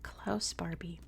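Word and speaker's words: Klaus Barbie: invasion of Leon in English his name is pronounced clouse Barbie and he's gone down in history as the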